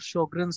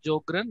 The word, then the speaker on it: Sjögren: And in German, SJ is pronounced like SH in English.